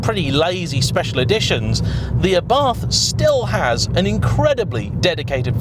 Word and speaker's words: Abarth: Oh, incidentally, I do know that it's properly pronounced Abarth, but I'm not going to do that for the whole review, I just can't be bothered.